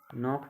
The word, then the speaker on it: knock: तो साइलेंट अक्षर बे अक्षर होते हैं जिसमें आप इसमें KNOCK लिखा है, यानी कि कनॉक बोलना चाहिए लेकिन नहीं, साइलेंट के रूल के हिसाब से इसको नॉक बोलेंगे जो कि साइलेंट अक्षर है।